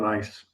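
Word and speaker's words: gneiss: Okay, it goes by the name of peninsula nice though it's spelled as G ne I SS it's spelled as nice.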